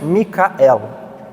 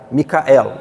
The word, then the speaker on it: Micael: Então, 3 sílabas, cuja pronúncia seria mais ou menos Micael. Micael. Depois você tem a tradução para o francês, que é Michel.